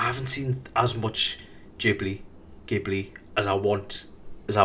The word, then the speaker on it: Ghibli: how to say it, whether it's Gibli, Jibli, Giblets. Um, Studio Ghibli. Uh, which is the pronunciation I'm going with because that's how Myzaki says it.